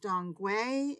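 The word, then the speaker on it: 当归: This is Angelica sinensis, pronounced Dongui in Chinese.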